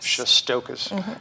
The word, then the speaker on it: Shestokas: It's Shestokas. Shestokas, just the way it sounds.